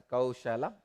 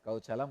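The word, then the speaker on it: कौशलम्: I am not going to pronounce this as a Kaushalam. I will call it as Kauchalam only. Let it become my own accent.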